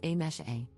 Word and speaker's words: Amise: For context, my name is written as Amise, but is pronounced as A-mesh-A. So my name consists of just 3 sounds and is completely pronounceable